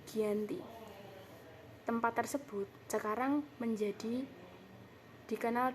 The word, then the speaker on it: Giyanti: Nama Giyanti ini diambil dari lafaz Belanda, yaitu Janti atau Ianti, dengan pengucapannya yaitu Giyanti.